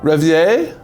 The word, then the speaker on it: Reverie: Reverie? Like if you want to get real French. Reverie. Do you want me to just tell you? Please. Reverie.